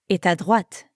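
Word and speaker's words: droite: in toilette toilet and make sure you're pronouncing the t sound at the end of what ready to give it a go repeat after me what now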